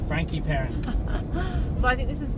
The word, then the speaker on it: Peron: Just for those playing at home, I prefer Cape Peron. Steph likes to use the fancy French pronunciation. Well, I think it's a French name, so it needs the French pronunciation. Frankie Peron.